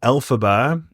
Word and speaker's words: Elphaba: Fun fact, you would for sure know this, but the name Elphaba is a pronunciation of the original author's name, LFB.